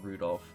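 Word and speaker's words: Rudolf: Anyway, this guy's name is pronounced Rudolph.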